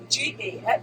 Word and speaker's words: Ga: What I tell people is when they can't pronounce it, I say, what is the state for Georgia? G-A.